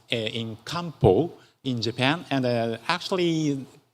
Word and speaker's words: Kampo: And uh actually tra traditional Japanese medicine is uh pronounced in kampo in Japan.